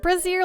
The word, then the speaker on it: brazier: A quick Google search seems like it rhymes with Fraser. So brazier, brazier.